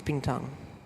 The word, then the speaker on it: Bintang: means bintang b whatever you it's bintang yeah it's bintang okay I don't